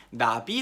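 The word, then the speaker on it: נביא: 예언자 라는 말을 뜻하는 히브리어 단어는 나비 라고 발음하는 히브리어 구요 이 나비 라는 단어는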